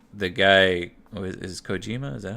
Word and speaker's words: Kojima: Like the guy is Kojima, is that how you say it? Kojima, yeah.